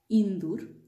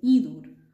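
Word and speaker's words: ইঁদুর: a nasal sound but you can't say indoor in some dialects in bangladesh some people say indur which is not used in the standard bangla in the standard bangla this is just a slight nasalization and you will have to say inor but local people in some areas they might say indoor which means mouse okay hinge row this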